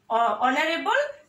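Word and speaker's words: honorable: তারপরে আছে দেখো কোনো ওয়ার্ড এর উচ্চারণ যদি প্রথম অক্ষর যদি এইচ হয় এবং এইচ এর উচ্চারণটা যদি অনুচ্চারিত থেকে যায় তখনও কিন্তু তার পূর্বে অ্যান বসে। যেমন mister Rahman is অ্যান অনারেবল person বা mister Rahman is an honest teacher. কেমন, উচ্চারণটা এইচ এর উচ্চারণটা অনুচ্চারিত থাকার কারণেই কিন্তু এখানে কি বসছে? অ্যান বসছে।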